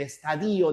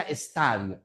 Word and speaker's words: estadio: por ejemplo, los médicos en el estadío de esta enfermedad, los filósofos o los psicólogos, cuando te hablan del estadillo del comportamiento humano está mal, se pronuncia estadio.